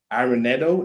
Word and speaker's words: Arenado: Nolan Arenado.